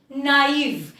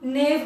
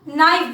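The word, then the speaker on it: naive: नाइव, इसको हम नेव नहीं बोलेंगे, इसको हम नाइव बोलेंगे.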